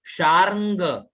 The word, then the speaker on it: शार्ङ्ग: अब यहां देखिए अंग में ऊपर र की मात्रा है, तो शार्ंग है ना, और अंग और ग का उच्चारण एक साथ होगा।